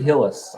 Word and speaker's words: Hillis: do you say your last name is at Hillis yes it is Hillis all right helmets owner and founder of